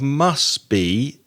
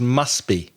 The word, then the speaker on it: must: 301 the pronunciation of must be you don't really pronounce the T so it's must be not must be must